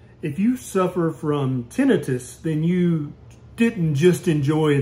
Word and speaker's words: tinnitus: if you suffer from tenius then you didn't just enjoy that sound I'm Dr Ken Barry and in this video we're going to be talking about tenius or pronounced tentis in the South what causes it what